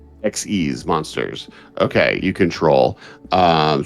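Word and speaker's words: Xyz: Uh try like try like the word exceed like exceeding expectations. Xes monsters.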